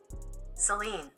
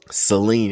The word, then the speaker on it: Celine: We got Celine. Celine. Celine. Celine. It's almost like saline, like solution for your eye. Nah, but it's it's more like Celine.